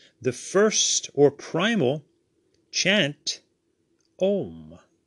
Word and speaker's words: Om: first or primal chant, Om. Generally, you see it spelled O-M because that is the way it sounds, but it is spelt A-U-M, or in English vowels, A-U-M, Om.